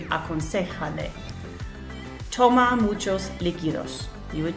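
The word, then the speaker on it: aconséjale: of an affirmative command, we have to put that accent on the third syllable. 1, 2, 3. Aconsejale.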